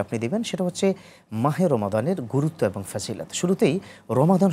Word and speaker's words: রমাদান: কোরআনের শব্দ রমাদান আচ্ছা আমরা যে প্রচলিতভাবে রমজান বলি তাহলে কোন শব্দটা বললে সওয়াব হবে শব্দ রমাদান আমাদের দেশে এমনিতেই দোয়াকে অনেক সময় এভাবে আমরা বলি আর কি জাস্ট উচ্চারণটা হচ্ছেন বলি আমরা রমাদান বলতে হবে এবং হাদিসে স্পষ্ট করে